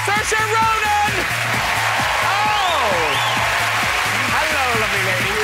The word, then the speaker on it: Saoirse: But that's how you say it. Because people do get it wrong a lot. Saoirse, yeah, like Saoirse. Inertia. Inertia. It's the Saoirse.